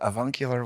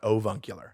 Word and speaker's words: avuncular: It sounds like AV, right? AV, uncular. avuncular. Avuncular, not ovuncular.